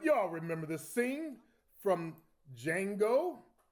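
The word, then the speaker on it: Django: remember the scene from Jango the D is silent well I feel sorry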